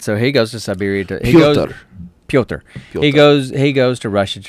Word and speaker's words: Pyotr: Pyotr. Pyotr. Pyotr. Okay. I'm tired of talking about Pyotr's name and how to pronounce Pyotr. I'm calling him Peter.